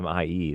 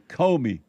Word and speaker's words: Comey: Comey Mike bought 5 coffees. Not Commie Mike, right? I don't know. And it's not Commie, that's for sure. It's Comey. Comey.